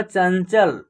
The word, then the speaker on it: चंचल: दन क्या होगा चंदन चंचल देखिए च में अन की मात्रा यहां पर आधा न का ही उच्चारण होगा चंचल दंगल क्या होगा दंगल